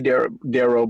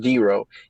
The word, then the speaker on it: DeRo: i was like but some people still call me darrell but yeah it's pronounced d-ro if you give a